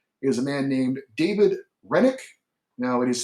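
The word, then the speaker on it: Hrenák: to look at is a man named david renick now it is spelled h-r-e-n-a-k he's 24 years old six with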